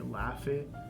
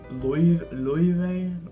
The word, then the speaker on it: Laufey: expect it to be Laufey, but Laufey is like a more English way of pronouncing it. I think it's Laufey.